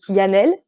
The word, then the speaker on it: Yanelle: Well, it's Yanelle, Okay. but I guess it's just the French accent.